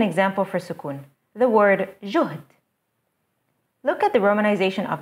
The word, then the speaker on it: جهد: You will notice that there are two consecutive consonants, ها and دل. To make sure that it's pronounced correctly, we put a سكون sign on the ها.